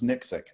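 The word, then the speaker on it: NXIC: Well, I pronounce it as Nyxic, N-X-I-C, something like no external inductive current.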